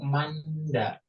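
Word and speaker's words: 많다: Banyak bahasa Koreanya itu manda. Tulisannya manoh. Man. Jadi bacimnya bacim merangkap. Ya ada dua, ada nien, ada hit. Tapi dibacanya man. Dibacanya man. Manda.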